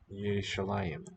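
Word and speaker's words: ירושלים: Yerushalayim. Yerushalayim. So it sounds like they have a shu syllable in there.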